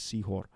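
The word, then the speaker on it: Sehore: And then we have Sihor, right? That's what the pronunciation is, Sihor.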